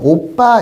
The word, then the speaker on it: 오빠: 자, 얘 발음이 되면 원래 오바 이렇게 않죠. 오빠 이렇게 발음이 나니까 오빠 이렇게 발음이 나니까 표기를 이렇게 모음과 모음하는 초성에서의 된 소리는 발음이 나니까 표기를 이렇게 해 준다고.